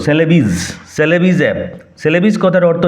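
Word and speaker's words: Celebes: কালো টাম ব্ল্যাক সেলেবিজ উচ্চারণ লক্ষ কর সেলেবিজ সেলেবিস অপ সেলেবিস কথার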